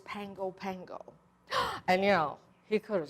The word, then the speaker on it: Pago Pago: reciting a line and he mentioned the island pago pago and I crept up to him at the